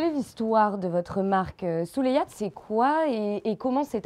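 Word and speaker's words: Souleïado: Oui, voilà, on ne le prononce pas, c'est pas Souleyado, c'est Souleyad, c'est ça?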